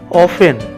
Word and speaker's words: often: ऑफन, OFTEN, यहाँ T silent है।